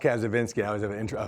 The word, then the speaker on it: Kacyvenski: I get um so it's it's pronounced a vinsky I always have an